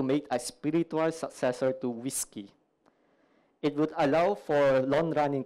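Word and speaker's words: WSGI: you would have gotten whiskey wsei it's pronounced whiskey I don't know why but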